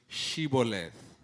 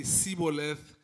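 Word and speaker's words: shibboleth: asks everybody to mention pronounce the word shibolev now he does this because the ephraimides do not have in all their languages do not have the sound so if you say siboleth you are an iframarden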